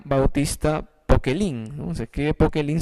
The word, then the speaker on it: Poquelin: Se escribe Poquelin, se pronuncia Poquelin en francés.